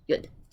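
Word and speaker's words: יוד: it's going to make the y sound, like we say yellow, right? Yeah. If it's at the end, just like we have puppy, happy, baby, with the y making an e sound at the end, it can make an e sound. So y or e. Yeah, e, depending on its position, right?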